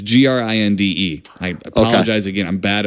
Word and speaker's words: Grinde: Now, the director, Nick Grindy or Grind, it's Grinde.